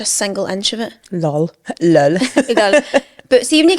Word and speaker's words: lol: Lol. There's an emphasis on the last L.